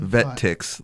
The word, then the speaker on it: VetTix: Vet Ticks, like tickets.